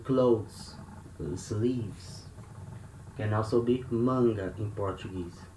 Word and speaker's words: manga: Sleeves can also be manga in Portuguese. So here we have letter A before letter N, and they are at the same syllable. So we have the nasal sound manga, samba, manga.